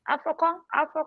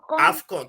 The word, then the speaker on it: AFCON: Afro what? Afrocon? AFCON. God, I know this woman ain't African. Can't even pronounce it. AFCON. Very easy.